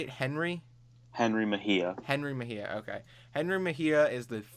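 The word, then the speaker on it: Mejía: Henry Mejia.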